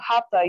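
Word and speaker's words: Hatha: in america that's practice is called hatta yoga it's spelled h-a-t-h-a and it means sun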